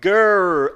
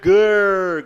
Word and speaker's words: girl: Como pronunciar girl? Girl é a língua lá no céu da boca, tá? Girl. O I aqui é como se fosse um A com uma espécie de acento circunflexo, tá?